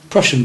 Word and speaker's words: Prussian: the P part and sounds like Russian remember Prussian blue Russian Russian playing